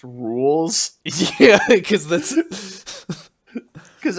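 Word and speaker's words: Rouxls: one of the songs in this game it's pronounced rules yeah because this is because everyone was pronouncing it like ruxel's card or whatever that's like how do you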